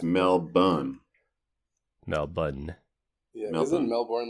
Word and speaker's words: Melbourne: if you say Melbourne, they know you're an outsider. Melbourne is you're a local, or at least you know how it's pronounced.